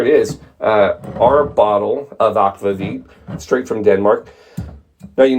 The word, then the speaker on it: Akvavit: If you go to Denmark and you get Akvavit, that's how they pronounce it, that's how they say it, Akvavit, that actually is caraway seeds and dill.